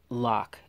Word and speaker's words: LOQ: I'm wearing these loq actually it's not loq I watched a video about them and the designers actually do pronounce the name LOC loq so these are there